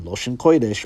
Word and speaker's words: Loshn Koydesh: Lashawan Qadash and Loshn Koydesh are the same phrase, just pronounced differently.